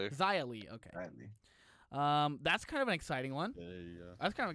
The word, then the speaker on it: Xia Li: Is that how her name's pronounced? Yeah. Shia Lee? Xia Li, okay.